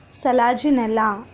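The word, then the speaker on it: Selaginella: top example salazinella equisetum check the pronunciation children salaji nella and equisetum and next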